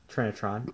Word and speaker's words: Trinitron: for the Sony how do you say that Trinitron Trinitron Sony Trinitron model number is also on